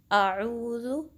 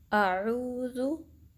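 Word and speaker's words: أعوذ: तो हम इसको आऊज़ु या आऊज़ु ऐसे नहीं पढ़ना, हमज़ा को सही से प्रोनाउंस करना है, आऊज़ु। तो एक दफ़ा आप इसकी रिसाइटेशन देख लें, आऊज़ु आऊज़ु आऊज़ु।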